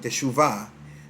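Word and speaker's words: תשובה: Y la palabra teshuva, otros lo pronuncian teshuvah, lo que significa es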